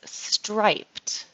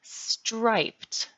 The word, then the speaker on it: striped: and this dress is striped striped we want to be sure that we pronounce it as stripe not strip it is striped so notice that pronunciation striped stri striped striped the pattern of